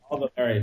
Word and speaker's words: Valéry: Is that how you pronounce his name? Yeah, Paul Valéry.